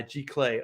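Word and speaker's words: giclée: do you say glay g clay everything in art is french you know that right second c is a k uh g clay okay so um then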